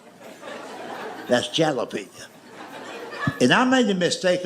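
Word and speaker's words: jalapeño: That's jalapeno." And I made the mistake of trying to explain that to him. I said, "I know it's a J, but it's pronounced with an H.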